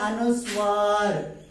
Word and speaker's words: अनुस्वार: अम का अर्थ होता है अनुस्वार. इसका चिन्ह होता है शिरोरेखा के ऊपर एक छोटी सी बिंदु दी जाती है. इसका उच्चारण उम्म के समान होता है.